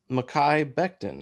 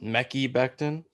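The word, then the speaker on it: Mekhi Becton: tweet about it recently it is makai bechten it's not mecci bechten i mean nobody's really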